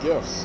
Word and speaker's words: GIF: pronounce a gift CU it's short for graphic the hard G graphic information file but